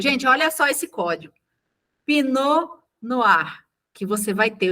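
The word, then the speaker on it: Pinot Noir: Eu vim com essa uva pinar. Eu não sabia que escrevia assim, tá gente?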